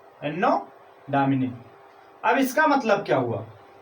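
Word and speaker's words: Anno Domini: एनो डोमिनी Hindi उच्चारण इसका, एनो डोमिनी।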